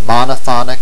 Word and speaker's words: monophonic: Notice that both pairs of works follow the same pattern in terms of syllabic accents: monophonic and polyphonic, accent on the first syllable for the adjectives, and monophony and polyphony, accent on the second syllable for the nouns.